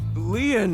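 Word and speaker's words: Lien: by your side my name leon is spelled l-i-e-n in french leon means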